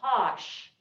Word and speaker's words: cosh: ever in class and your professor says kosh they're not mispronouncing cosine they're talking about the hyperbolic cosine put a minus sign